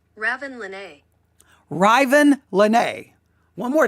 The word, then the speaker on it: Ravyn: way it to me, Raven makes sense, but it's kind of Raven. I mean, if you even listen to that. Ravyn Lenae. Ravyn Lenae. But I listened to a number of pronunciations online, and some of them did fall over into Raven. But I think Ravyn is the correct way.